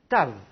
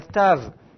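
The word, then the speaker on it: תו: Tav, la dernière, celle qui est ici. La lettre Tav est concernée par ce phénomène. Avec un point dedans, il faut la prononcer occlusive. C'est la prononciation normale, T.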